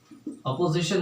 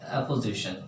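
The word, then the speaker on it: apposition: Case in अपोजिशन नहीं, एपोजिशन, इसमें ए spelling होती है, एपोजिशन, ठीक है।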